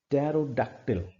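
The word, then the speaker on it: pterodactyl: ऐसा एग्जाम्पल, पैरी just popped अ pink pink टेरोडैक्टिल, यहां पर ये प प्रोनाउंस नहीं हो रहा है। हियर द रेपिटेशन ऑफ प sound included in this word also, but प in this word is silent.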